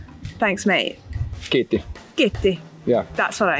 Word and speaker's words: Kiitti: Kiitti. Kiitti. Yeah. That's what I need to know. Kiitos.